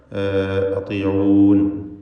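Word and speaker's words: أطيعون: അതിഊനി എന്ന യാഉൽ മുതകല്ലിം അവിടെ മഹ്ദൂഫത്താണ്, അതിഊൻ എന്നാണ് വഖഫ് ചെയ്യേണ്ടത്.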